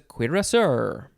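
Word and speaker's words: cuirass: you put it on your body next is queer sir or cure curacao c-u-i c-u-i-r-a-s-s-i-e-r noun from 1625 a mounted soldier wearing a kuiras it's a queer sir next is cuisinaire oh no that's the first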